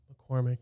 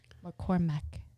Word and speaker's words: McCormack: McCormack. I'm still trying to teach her how to say her last name. McCormack. Like the spice. McCormack. But it's, You don't really say Mick, but you it's just MACK.